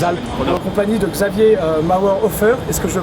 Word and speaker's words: Mauerhofer: Je sais pas, Vienne, les Alpes, en compagnie de Xavier Mauerhofer. Est-ce que je le prononce bien?